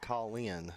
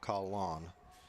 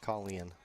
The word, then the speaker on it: Colin: Brax Charlie rice says Colin Hatfield's first name is pronounced Colleen not call on and Charlie Ross go